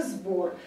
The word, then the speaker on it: сбор: Но так как «б», у него пара «б», «п», «б» у нас звонкий, то, соответственно, происходит озвончение и звука, стоящего перед ним, а именно «з». Поэтому в транскрипции будет именно «сбор».